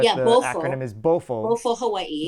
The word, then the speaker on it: BOFO: is BOFO, BOFO Hawaii. which I don't want people to think that I'm saying bufo, which is the No, frog, right?